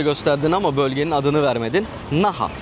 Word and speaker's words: Naha: Naha arkadaşlar çok basit yazıldığı gibi okunuyor. Naha bölgesi.